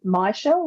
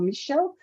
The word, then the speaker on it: Michele: I was like oh you can say my shell or Michelle because it's only got the one ill people sometimes have this